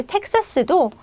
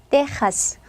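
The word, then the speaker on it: Texas: 더 해 드리면요 이제 텍사스도 스페인어 바라면 테하스 테하스 물론 뭐 중남이 사람들은 그냥 텍사스 하는 사람들도 이제 많이 있지만 스페인어로 식으로 이제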